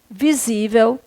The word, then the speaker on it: visível: texto são você, aí, visível, está, grávida, é, título. E dessas palavras aqui, a única que é paroxítona é a palavra o quê? Visível. Última sílaba, penúltima, tá? É uma paroxítona terminada em L.